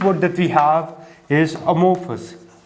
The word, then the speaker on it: amorphous: and the greek word that we have is amorphous ammo force that's how we pronounce this most of the words that we